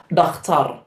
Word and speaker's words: dakhtar: The next we have the word for a doctor, which is just a Somali-ized version of the pronunciation, which is dakhtar.